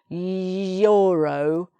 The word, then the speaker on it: euro: Euro, it's an E, but remember it's also about how it sounds. So when you say euro, you're making a Y sound like that, yeah.